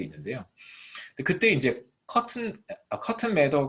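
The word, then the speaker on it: Mather: 있습니다 커트 메 더 버거 마더 라고 발음하면 안된데요 매 더 라고 발음해야 된다 호튼 매다가 있는데 그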